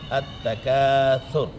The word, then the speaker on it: التکاثر: التکاثر کہہ دیتے ہیں۔ الہاکم التکاثر کہنے میں سین آ جاتا ہے، تو اصل تلفظ سے کیا ہے؟ التکاثر۔ یہ جو سورہ مقدسہ